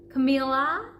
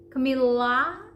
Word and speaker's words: Camila: most people would say Camilla Camila and the problem is in the L we would say Camila Camila very I would call it dry L Camila Camila okay Camila I